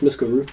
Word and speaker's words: Miskaru: You can call me Misk for short, but it's Miskaru.